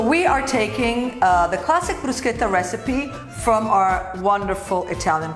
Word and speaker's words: bruschetta: to make a classic, bruschetta. Before we start to make bruschetta, you need to learn how to pronounce it. It is not bruschetta, it's bruschetta. Bruschetta. Very simple. Very simple, not bruschetta.